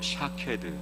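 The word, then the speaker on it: שָׁקֵד: 살구나무와 그리고 이 지켜본다의 히브리어 원어의 발음이 비슷합니다. 살구나무는 히브리어로 샤케드, 그리고 지켜본다는 히브리어로 쇼케드. 그러니까 하나님은 이 두 가지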